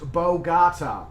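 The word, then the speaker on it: Bogotá: chef coke thank you very much fozzie it's pronounced bolgata okay cool i hope you're not pulling my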